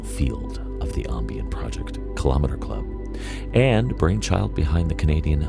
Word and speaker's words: Kilometre Club: So, the name Kilometre Club, which that's, my Toronto pronunciation, right, I guess, our metric pronunciation.